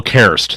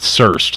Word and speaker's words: Karst: Sorry, I'm General Karst, not Surst, like freaking Billy Bob says.